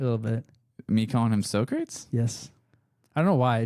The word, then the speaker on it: Socrates: name is his name his pronunciation is Socrates sock ra tease yeah Socrates so I'm correct yeah Socrates okay look at this spelling and then you saying so creates with us up here